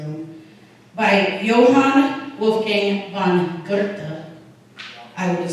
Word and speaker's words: Goethe: There's a quote, and I did have to Google how to pronounce his last name for any Germans in the room, by Johann Wolfgang von Goethe. I would have said Goethe.